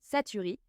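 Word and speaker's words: Chachere's: J'ai appris que cela se prononce saturi. C'est comme ça qu'on prononce Satres.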